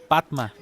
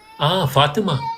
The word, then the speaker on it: Fatima: Yes, my sister, his name is Fatima, but you say Patma. Fatima.